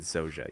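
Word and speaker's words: Zojja: Also, I keep pronouncing it Zaja. It's Zoja? I believe they pronounce it Zoja, yes.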